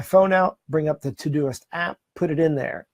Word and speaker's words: Todoist: The next one is Todisit. So it's spelled T-O-D-O-I-S-T, Todisit.